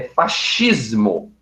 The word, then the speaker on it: fascismo: que na verdade né Se nós formos seguir a pronúncia correta é fascismo tá do italiano achismo do